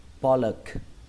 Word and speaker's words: pollock: Từ tiếp theo, trọng âm của từ này rơi vào âm đầu tiên, âm po. Âm po. Âm o các bạn nhé, chúng ta ghi là o và chúng ta đọc là o luôn, po.